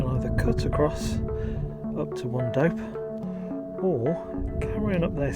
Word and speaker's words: Wandope: I think it's pronounced Wandope. Wandope? W-A-N-D-O-P-E. It's probably Wandope. Wandope.